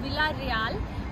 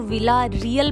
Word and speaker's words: Vila Real: कैसा है मठरी स्टाइल इंग्लिश में अगर हम विला रियाल को प्रोनाउंस करें तो विला रियल बनता है लेकिन पुर्तगीज में ए को आप बोलते हैं जिसकी वजह से विला रियाल बोलते हैं बहुत सारे लोग इस